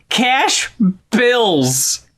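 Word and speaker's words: $CA$H BILZ: It's spelled $CA$H capitalized BILZ. Cash Bills.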